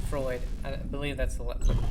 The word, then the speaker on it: Freud: um god the dude's name Freud I believe that's the how you pronounce it called the ID may also reject a transplant to consciousness.